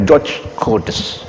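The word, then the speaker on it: George Cœdès: Mulai dari perguruan tinggi sampai sekolah dasar, semuanya mengacu pada satu orang ini, orang Perancis ini, Georges Codes namanya, tulisannya gitu, bacanya George Codes, sejarawan asal Perancis yang bertugas di Thailand pada waktu itu untuk mengotak-atik sejarah yang ada di Nusantara.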